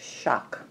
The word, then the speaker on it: XOC: this knife your honey shock exoskeleton c okay crkt's xoc pronounced shock okay and this is